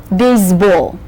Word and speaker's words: baseball: Just when you say the names of all the ball games, remember the accent is on the ball syllable. Basketball, volleyball, football, baseball.